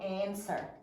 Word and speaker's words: answer: for answer. We have to double underline the W because that is silent. Great job. We don't say and swore, right? We say and sir. So that W is not heard.